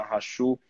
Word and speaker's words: Hachul: E hoje eu tenho uma convidada muito especial, a doutora Rachu. É assim que pronuncia o seu sobrenome?